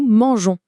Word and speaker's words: mangeons: Si on ne faisait rien de spécial, nous mangon se prononcerait mangon. Bizarre, non ? Du coup, pour garder le son G tout doux, on glisse un petit e muet juste avant le ons et voilà, nous mangeons.